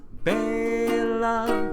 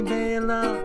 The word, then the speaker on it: Bela: The song is wild, I really like its style, but they say his first name wrong. It's Bela. Bottom paw. That is how you say Bela.